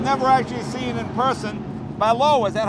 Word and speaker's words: Ballot: actually seen in person balow is that how you pronounce it that's right cuz when you read it it looks like ballot that's correct I think